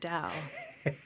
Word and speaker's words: TAO: It's also called DAO, TAO, because that's our initials, but we pronounce it DAO.